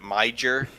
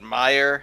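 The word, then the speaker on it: Meijer: at a rally he he pronounced the you know the the food the the store meyer he pronounced it my jer and then he got kind of mad when someone tried to correct him because my eagles are as some people call it meyer i guess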